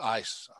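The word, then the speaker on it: εἰς: be the preposition ice e i s that's pronounced ice and it means into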